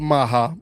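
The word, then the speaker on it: MAGA: own political group called Maha. It's Make America Good Again with a soft G. It's like it's maha.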